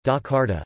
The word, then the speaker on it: Jakarta: Jakarta, Indonesian pronunciation, Dakarta, officially the special capital region of Jakarta Indonesian, Daerah Khusus Ibu Kota Jakarta, is the capital and largest city of Indonesia.